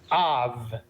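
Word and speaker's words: אב: We close the syllable with the vet sound, and we start the syllable with the ah sound. So we have ah plus v is Av.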